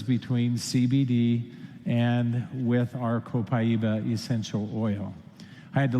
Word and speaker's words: Copaiba: Somebody reminded me that you said that Copaiba is supposed to be pronounced Copaiba. Well, it depends on what part of the world you're in.